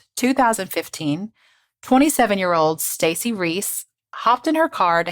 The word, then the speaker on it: Reis: to be clear I was absolutely going to pronounce it wrong it's r-e-i-s which I just thought was Reyes but it's Reese so oh because of course it is and